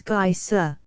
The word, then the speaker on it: geyser: The geyser, a word the Icelanders pronounce geyser, and which signifies fury, rose majestically from its summit.